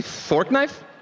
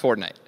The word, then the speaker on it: Fortnite: Did you say fork knife? It's actually pronounced Fortnite.